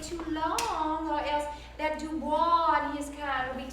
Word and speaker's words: Du Bois: Well, I wouldn't wait too long, or else that Du Bois and his kind will be taking the office right next to yours. I believe the man pronounces his name Du Bois.